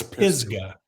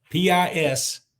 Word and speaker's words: Pisgah: It's Pisgah. Pisgay. I mean, no, H-G-A-H. Yeah. So it's Pisgah.